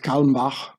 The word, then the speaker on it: Kalmbach: So here, Herbert Kalmbach, I pronounce it the German way, was an American attorney and banker.